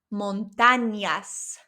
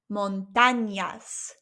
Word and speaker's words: montañas: Listen to the difference. Montañas, that's without the squiggly line, and with the squiggly line, the way the word is spelt, montañas, montañas.